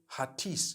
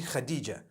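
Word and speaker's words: Hatice: In Turkish, some people spell it H-A-T-I-C-E. I would say Hatis for that. No, it's actually Khadija. In Turkish, that's the way they write it.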